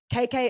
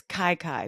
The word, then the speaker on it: KK: That's KK is spelled CAICAI. Okay. Okay. KK's Cajun Cooking. IG is hey_chef KK. I feel like it's Kai, maybe. No, she says does it for you phonetically.